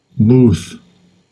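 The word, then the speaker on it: מוּת: Muth. Muth.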